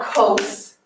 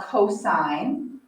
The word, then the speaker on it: cosine: be your sign so this is not called cos it's called cosine we're just writing kind of